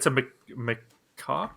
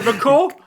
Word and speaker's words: macaque: Well, it's a macaque. A macaw. Macaw. Yeah. Jeez, No, macaw. Macaw is not the way that I've heard it being pronounced. So. Oh, really? No, macaw's a bird.